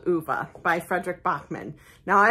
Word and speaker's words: Ove: Man Called Ove by Frederick Bachman.